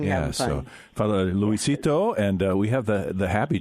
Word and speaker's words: Luisito: Well, it's people have a hard time pronouncing, except for the Latino community. You know, with the exception of them, they don't have any trouble pronouncing my full name, Luisito.